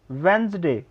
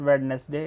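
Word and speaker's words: Wednesday: फिर है वेंसडे, इट्स नॉट वेडनेसडे, इट्स वेंसडे.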